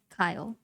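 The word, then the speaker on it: Cael: Now this is a special raid because this guy, I believe his name is pronounced Kyle. Like it's C-A-E-L, but pronounced like K-Y-L-E, Kyle.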